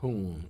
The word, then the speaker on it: Hoong: We chant the sacred syllable Hoong, H-O-O-N-G, twice with each exhale at our own pace.